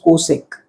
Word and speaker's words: cosec: way was better because we used to pronounce it just the way we used to write it and that was cosec okay that is how